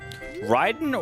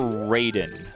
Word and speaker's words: Raiden: Ryden or Raiden? Because in in um Metal Gear Solid, he's Ryden, but I think it's pronounced both ways.